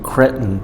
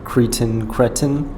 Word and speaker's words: cretin: There's some Tony Jones and the Cretin 3 there, or is it Cretin 3? I went on Google to figure out how to pronounce that word cretin, and turns out American English is Cretin and British English is cretin.